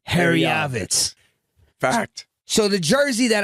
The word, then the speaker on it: Herjavec: Herjavec. That's how you say it. Herjavec.